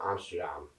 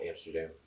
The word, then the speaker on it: Amsterdam: know, I felt a weird pull going to Amsterdam, and that's actually how they pronounce it. It's not Amsterdam.